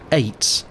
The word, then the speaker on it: eyot: Throughout the river you encounter these small islands, apparently called aits, even though it's spelled eyot.